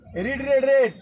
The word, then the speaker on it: read: वाज the Ramayan, रेड spelling same रहता है।